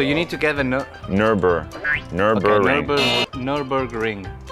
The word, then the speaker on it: Nürburgring: So you need to get the Nürburgring. Nürburgring. You need to get Nürburgring. The G. So a Nürburgring. No, you're not saying the G.